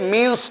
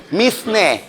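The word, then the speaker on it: mesne: দুই 12 তে আছে মিনস প্রফিট মিসনে মিস নি প্রফিট কিন্তু উচ্চারণ হবে মিন্স বানানো হবে মিস নি এম ই এস এন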